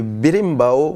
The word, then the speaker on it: berimbau: Et puis, l'instrument que l'on voit le plus souvent, c'est le berimbau. Voilà, je ne sais pas si on le prononce bien, en tout cas, ça s'écrit B-E-R-I-M-B-A-O.